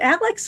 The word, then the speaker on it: Alec: month that Alec Murdaugh's, is it Alex or Alec? I know in the trial he pronounces it Alec. He and his family call him Alec.